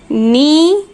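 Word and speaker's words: knee: अब देखिए नी और नाइफ, इनमें तो न की साउंड आ रही है, बट कुछ वर्ड्स ऐसे होते हैं जिसमें के साइलेंट होता है. यहाँ के साइलेंट है, इसलिए इसमें यहाँ हम इसको नाइफ और इसको नी बोल रहे हैं.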